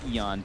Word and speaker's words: Aeon: Aeon discs. Or, sorry, Eon discs. Eon. Eon. Radiant's bottom tower is under attack. I always thought it was Aeon.